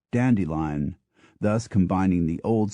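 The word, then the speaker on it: Dent-de-Lion: l i o n a town in Kent is pronounced dandelion thus combining the old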